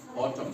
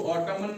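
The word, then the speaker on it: autumn: ऑटम। इसको पढ़ते हैं ऑटम। क्या पढ़ते हैं? ऑटम। ऑटम पढ़ते हैं। ठीक है? ऑटम क्यों पढ़ते हैं? इसको ऑटमन क्यों नहीं पढ़ते हैं?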